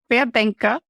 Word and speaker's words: Querdenker: And Querdenker, it's how you pronounce it, is the one who is like a lateral thinker.